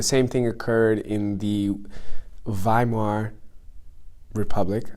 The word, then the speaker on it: Weimar: thing occurred in the Weimar Republic I think it's pronounced like a V oh my the